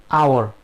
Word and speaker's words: hour: Yes is silence. So it is silence, then hour. So an hour.